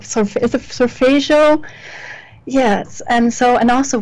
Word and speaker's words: solfeggio: Like, is it solfeggio?